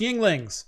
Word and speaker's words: Yuengling: want to be slaying younglings with. I love all the comments right now. It's pronounced Yuenglings.